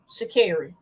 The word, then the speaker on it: Sha'Carri: Sha'Carri. because I've been mispronouncing this baby's name.